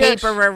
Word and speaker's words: Haberer: we Haberer rhymes with laborer.